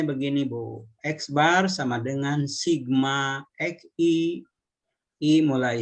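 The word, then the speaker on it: x̄: ini nah ini nah dibacanya itu X bar ya jadi membaca ini membaca ini adalah x bar Kalau ditulis begini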